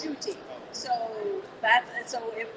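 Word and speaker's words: Ncuti: u t i so at the very beginning of my show i was going like nakuti nakuti nakari nakuti and everybody says pronounce it shooting shooting shoots you know like it took about about a third away at the podcast to figure out how to pronounce it i felt bad because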